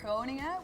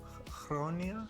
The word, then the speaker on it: Groningen: I think if I like one is called Groningen, which is really hard to pronounce. Groningen? Groningen.